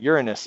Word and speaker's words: Uranus: across the solar system again to get to Uranus and that's by the way how you pronounce it okay and then across the solar